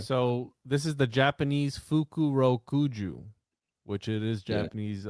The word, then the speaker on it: Fukurokuju: How do we pronounce it? Fukurokuju.